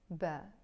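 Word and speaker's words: باء: The name of the letter is Ba. In Lebanese Arabic, we can also pronounce it B.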